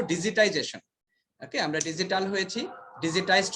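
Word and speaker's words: digitization: ঠিক আছে, ডিজিটাইজেশন আমরা যেটাকে বলি ডিজিটালাইজেশন, অনেকে বলি that is a wrong pronunciation অথবা রং ওয়ার্ড, আমরা বলবো ডিজিটাইজেশন।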